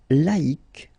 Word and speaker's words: laïque: Yes, you need to take away the C and then put QUE, but then phonetically, if you pronounce it, you pronounce it exactly the same way.